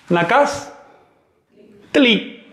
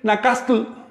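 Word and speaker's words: nacaztli: No puedes decir nacastl por lo siguiente. Una regla de Nagua es que no se pueden unir la misma sílaba dos consonantes.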